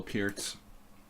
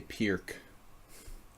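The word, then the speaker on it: Pirc: Miss Exeter, classical Peerts. Peerts. A lot of Americans say Pierk. They don't know how to pronounce a C in another language.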